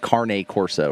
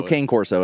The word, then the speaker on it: Cane Corso: canario or it's an it's not even king court it's like carne corso or something i don't know well it's spelled c-a-n-e and they call it carne carne corsa okay whatever it's it's